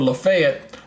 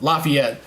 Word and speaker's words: Lafayette: one here coming toward Lafayette Lafayette not laf Lafayette it's Lafayette in Alabama it's Lafayette in Georgia okay go figure they got two different ways of pronouncing Lafayette so um but yeah this